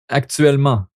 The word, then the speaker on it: actuellement: Et me trouver si je connais actuellement le langue français ou non. Juste une petite note. Actuellement. On prononce pas le T à la fin.